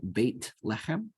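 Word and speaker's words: בית לחם: born it's called Bethlehem in Hebrew it's bait in the pronunciation that we're using right bait lechem but in the olden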